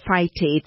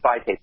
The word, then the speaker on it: phytates: Tell me about that phytates and the phytic acid. Did I pronounce that correctly? Yes. Phytic acid and phytates, they're similar.